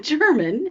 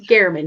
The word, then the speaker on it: German: It is not German, as we have been Yes, saying this entire time. I It's know. Jeffrey Gehrman.